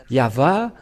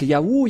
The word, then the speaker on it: Yahvah: quelle est la raison pour laquelle les gens prononcent ce nom de yaho quelle est la raison yava nous avons déjà tous bien vu le yava